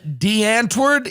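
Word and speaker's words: Die Antwoord: the stories I read was about this band, D'Antwoord. Is that how you pronounce it?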